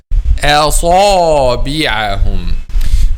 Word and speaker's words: أصابعهم: The back of the tongue is not raised, and then back of the tongue is raised. Asabi, and then back of the tongue is not raised because al-ba is light. So light letter, the trick here is moving from light letter to heavy letter without making light letter a heavy one.